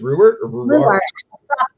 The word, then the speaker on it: Ruwart: so go check out reward reward how do you say your name it's rubert you can say why